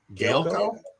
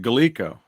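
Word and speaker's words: Gaelco: it or is it galico i've heard it as galico or gallico yeah it's spelled g-a-e-l-c-o so it'll be like gale go okay huh alligator hunt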